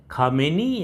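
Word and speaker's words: Khamenei: दूसरे धार्मिक नेता हैं अली हुसैनी खामेनी या खामे दो तरह से इसको प्रोनाउंस किया जाता है। जिस तरह से आप करना चाहे। हम लोग भारत में तो खामेनी ही बोलते हैं ज्यादातर।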